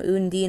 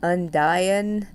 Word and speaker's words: Undyne: So, on my last part, I ran away from Undine a whole bunch, which, by the way, I saw on the Undertale Tumblr that her name is supposed to be pronounced like Undyne.